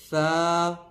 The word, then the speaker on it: ث: لہجے میں ادا کریں، اردو تلفظ سے پرہیز کریں، یعنی بے، تے، سے، ہے، خے، توے، زویں وغیرہ ہرگز نہ پڑھیں، بلکہ با، تا، سا، حا، خو، تو، زو پڑھیں۔ ان 29 حروف میں